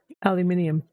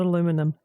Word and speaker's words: aluminium: Um, you just wanted to pronounce aluminium the correct way. Yeah, aluminium. It's not aluminum. Um, but yeah, other than